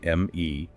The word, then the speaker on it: me: They had to maintain the me, spelled M-E, pronounced me.